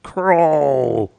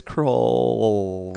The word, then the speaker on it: Krull: 248 this week's episode crawl that's how you spell that crawl it's it's raw it's kr ull it's the ARA ll know that that would be that would that would be crawl yeah yeah no it's cruel roll control crawl yeah